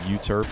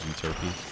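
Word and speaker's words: Euterpe: Like in my servants video, I went back and forth between uturp and uturpe. The actual pronunciation is uturpy.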